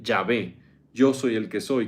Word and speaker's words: Yahvé: o como Jehová sí lo más probable es que se pronuncie yahvé yo soy el que